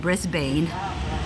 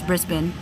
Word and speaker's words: Brisbane: Australian like lesson like I never knew that I was saying Brisbane incorrectly and Melbourne all this time I've been saying Brisbane and it's Brisbane and all this time I've been saying Melbourne and it's Melbourne like my mind is